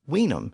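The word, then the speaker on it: vinum: later borrowing is because the word was originally pronounced with an initial W Sound by the Romans it was originally pronounced as weam in Latin the W sound shifted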